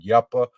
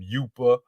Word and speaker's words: Yupa: It's all right, but they changed the pronunciation in the VHS version. The badass motherfucker was called Lord Yuppa. They call him Yupa, and everything just changed.